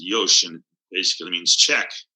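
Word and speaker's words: よし: y sh is how it's spelled but it's pronounced Yosh and it basically means check right confirm and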